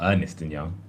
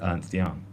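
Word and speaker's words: Ernst & Young: It's not Ernest and Young. It's Ernst Young.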